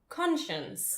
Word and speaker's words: conscience: Your conscience. Yeah. Which is spelled like conscience. Yeah, like science.